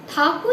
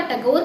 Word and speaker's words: ठाकुर: मजे की बात यह है, अंग्रेज ठाकुर ये शब्द ठीक से नहीं प्रोनाउंस कर पाते थे। उन्होंने वो ठाकुर का टैगोर कर दिया और हम आज भी रविंद्रनाथ टैगोर ही कह रहे हैं।